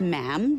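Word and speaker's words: ma'am: and after that it's just mam rhymes with jam and it's always a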